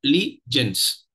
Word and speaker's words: allegiance: that is that in in words of three syllables if there are three syllables in a word and the third syllable is stressed it is usually a word of French origin we have seen this